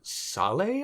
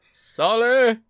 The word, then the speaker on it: Saleh: second year head coach robert saleh i think is how you pronounce it sully i think the only